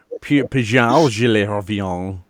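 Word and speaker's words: Pagl'thatn: Paglifan. Paglifan. I haven't got this in front of me right now, and I can't tab out. PAGLTH_AN. Yeah, Paglifan. I'm sure that's how it's pronounced. Actually, Meoni, it's Pajal.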